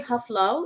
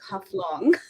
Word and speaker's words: Haflong: So the town I grew up is called Haflong. So it's basically Haflau. It's a small mountain, the original word. The British could not pronounce that, so they turned it into Haflong.